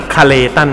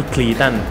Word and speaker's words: คาตัน: เฉพาะ คาตัน นะ ครับ อ่าน ว่า คาตัน นะ ครับ ไม่ ใช่ คีตัน เค้า ก็ บอก กับ